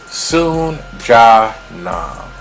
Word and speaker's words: Soon Ja Nam: Soon Ja Nam. And Soon, just like you would spell it. Middle name, I guess, J-A, Ja, last name Nam.